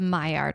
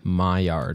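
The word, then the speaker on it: Maillard: of what's called the my art reaction my yard it's spelled almost like mallard duck it's it may I ll ard I think it's French my art oh it was discovered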